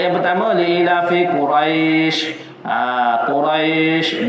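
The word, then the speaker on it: قريش: Quraisy dua harakat Quraisy tu.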